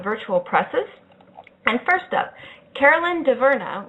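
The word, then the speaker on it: Caroline Dhavernas: And first up, Carolyn DeVerna, which is how it's pronounced in the English-speaking world. I'm not going to pretend to know how to do the French-Canadian.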